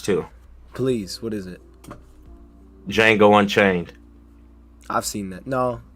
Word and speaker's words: Django: please what is it django unchained i've seen that no how do you spell that django unchained d i think you told me about the j n g o and the d is silent oh yeah you man